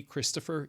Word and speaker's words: Christopher: But do you notice that when you say Christopher, you don't really fully pronounce the O? The O is reduced because the word is 3 syllables long. And when words hit 3 syllables, generally one of the vowels will reduce.